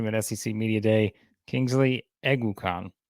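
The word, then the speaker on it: Kingsley Eguakun: Kingsley Eguakon is how you pronounce it. So that's it. Eguakon. You got to remember that.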